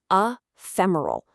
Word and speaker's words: ephemeral: It's ephemeral. The stress is on that middle part. Fem. Let's try it. A fem roll.